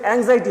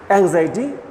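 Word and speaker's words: anxiety: এটার উত্তরটা কিন্তু, উচ্চারণটা কিন্তু অ্যাংজাইটি হবে। অনেকে ভিন্ন উচ্চারণ করে, এটার সঠিক উচ্চারণটা হচ্ছে অ্যাংজাইটি।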